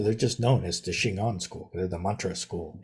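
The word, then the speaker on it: 真言: That same word Jin on is pronounced Shingon in Japanese.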